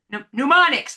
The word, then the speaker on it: mnemonics: Mnemonics.